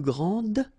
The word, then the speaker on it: grand: Okay, so phonetically, what you can hear is that this first form here for the masculine, grand, so you don't pronounce the final D, will be exactly the same as the plural form for the masculine, grand.